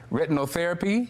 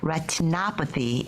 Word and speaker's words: retinopathy: correctly what is diabetic retinal therapy is that how you say it it's diabetic retinopathy it's literally translated as